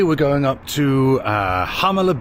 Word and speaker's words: Jalama: Today we're going up to uh Hamala Beach. It's spelled Jamala with a J.